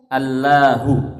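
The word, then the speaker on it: الله: dihapus dihilangkan sehingga menjadi Allahu ya ketika hamzahnya dihilangkan menjadi Allahu asalnya alilahu menjadi Allahu kemudian lam masuk ke lam ya diidghamkan ini kemudian bacanya ditafkhim bacanya ditebalkan menjadi Allah nah menjadi Allah padahal asalnya adalah alilah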